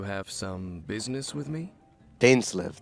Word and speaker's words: Dainsleif: Dainsleif. That's how you pronounce it.